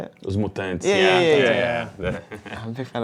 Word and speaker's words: Os Mutantes: I'm a big I like Os Mutante. Is that how you say it? Os Mutantes.